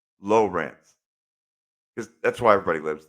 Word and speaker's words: Lawrence: But I can tell you, even though they're spelled the same, they're not pronounced the same. So, Lawrence is spelled Lawrence. Right. Lawrence. But if you're in Ohio, it's pronounced Lowrance. Lowrance.